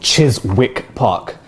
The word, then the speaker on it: Chiswick Park: it right guys and this is called chiswick park not chiswick park you embassy get this one